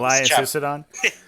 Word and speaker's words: Lias Issodon: He's obviously running Lias Issodon. I always get his name wrong. Lias Issodon.